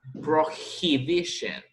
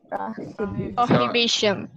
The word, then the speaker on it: prohibition: The pronunciation of this word, the H sounds like a J. La H aquí no es muda. En español es prohibición. En inglés es prohibition. Prohibition.